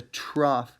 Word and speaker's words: trough: It's O-U-G-H, but you pronounce it with an F. That's a trough.